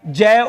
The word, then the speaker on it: ज्ञ: का माना जाता है, जय और य का मिश्रण माना जाता है। हम जो बोलते हैं ना वास्तव में ज्ञ, वो ज्ञ इसका शुद्ध उच्चारण नहीं है, शुद्ध उच्चारण इसका ज्य।